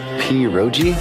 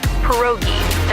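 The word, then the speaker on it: pierogi: What is this? Peroi. Did I pronounce that right? It's pronounced perogi. A tasty dish like dumplings.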